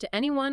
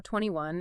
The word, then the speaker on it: 2NE1: It's pronounced to anyone or 21, and it stands for 21st century new evolution.